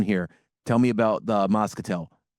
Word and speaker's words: Moscatel: I am super excited now to jump into the again, I don't know if I'm saying it correctly, but Moscatel. Yeah, Moscatel.